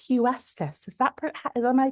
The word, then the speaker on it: Huestis: We have and it's Huestice. Is that Is am I pronouncing it correctly? Hust. Hust. Easier than it looks. Hust like Houston.